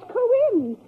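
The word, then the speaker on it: Cohen: he spell it q-u-i-n-n no he wasn't irish his name was coin c-o-h-e-n coin thanks but i really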